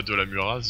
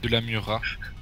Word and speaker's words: Murat: C'est bizarre, parce que tu connais même pas de la Muraz, donc bon... De la Murat, le Z ne se prononce pas.